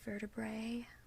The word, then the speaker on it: vertebrae: So A, this is actually pronounced A, even though it looks like an E. A. So here we have apex in the initial position. The A is at the front. We have sacrum, so the A sound is in the middle of the word sacrum. And then vertebrae, we have the A sound at the end of the word, at the final position.